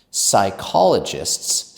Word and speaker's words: psychologist: Also be careful that P at the beginning of psychologist is silent. It comes from the Greek language. So that's why it's silent.